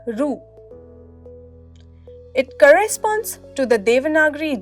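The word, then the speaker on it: ଋ: It graphically represents Ri of the Devanagari alphabet, but it is pronounced as Ru.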